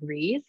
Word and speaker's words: Ries: I'm the founder of Reese, and it's pronounced like please, whenever you see the word.